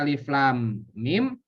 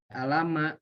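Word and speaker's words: الٓمٓ: ini kasusnya apa kasusnya banyak orang yang baca huruf muqatha'ah di dalam Alquran jadi eh dibacanya begitu bisanya alif.lam.mim menjadi lama gitu dibacanya banyak kasus-kasusnya begitu maka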